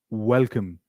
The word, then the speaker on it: welcome: But when you say W, pronounce it like this, wa, wa, as in welcome, welcome.